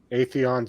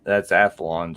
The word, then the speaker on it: Athlon: It's got the Atheon Silver AMD and the AMD Radeon graphics. Okay, that's Athlon, just so you know. Or Athlon, okay. I wasn't sure how to pronounce it.